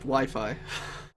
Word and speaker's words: Wi-Fi: Well, it's pronounced Wi-Fi. It's a W, an I. Wi-Fi.